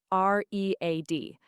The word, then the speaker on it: read: The spelling is the same, R-E-A-D, but the pronunciation changes. Present, read, past, read. That's a great point. In the present, it sounds like read. In the past, it sounds like red, like the color.